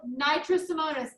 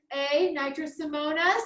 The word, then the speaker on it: Nitrosomonas: This is the first time it's written down on your screen, and that's spelled nitrosomonas. Nitrosomona. Nitrosomonas with an S.